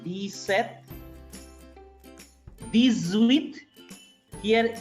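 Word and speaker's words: dix-sept: I repeat, D set, P is silent, D set, this with, here X is placed, I told you, if S is placed between two vowels, S is pronounced as Z.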